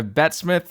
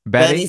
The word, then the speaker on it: Bette: the time by the way I've heard both pronounced people I've heard you and other people call you Betty Smith or betth which one is what do you prefer Betty Betty Betty rolls off Betty rolls off the tongue